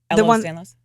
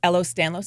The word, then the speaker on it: Ehlers-Danlos: Or the other one that I always pronounce incorrectly, but you did a beautiful job with it. Ehlers-Danlos? Say it again. Ehlers-Danlos syndrome?